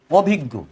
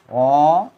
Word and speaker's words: অভিজ্ঞ: জ্ঞানী অথবা পন্ডিত পন্ডিত এরপরে দেখাবো অভিজ্ঞ অ অভিজ্ঞ উচ্চারণটা কেমন হবে অভিজ্ঞ হসন্ত অভিজ্ঞ উচ্চারণটা এরকম কোন বিশেষ ধরনের জ্ঞান